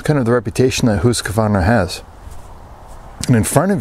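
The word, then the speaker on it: Husqvarna: Adventure Channel husk Varna some of you call it husk Varna kind of the Anglo pronunciation of the word but I think most of the swedes would agree or maybe they wouldn't but the proper pronunciation is is hus kav they make chainsaws make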